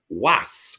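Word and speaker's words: Wace: Was, which we spell W-A-C-E, but I'm told you pronounce it Was.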